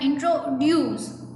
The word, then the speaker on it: introduce: For example, the word introduce is pronounced with a stress at the end, so it sounds like introduce.